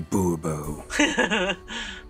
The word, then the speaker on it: Bourbon: snarky right back fine monsieur de bourbon emphasis falls on the last syllable bobo see now i'd